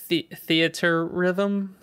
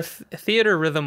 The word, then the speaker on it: Theatrhythm: Final Fantasy Theatrhythm. I like the second way you pronounced it. Theatrhythm? Yeah, Or theater rhythm might be it, but it's definitely spelt.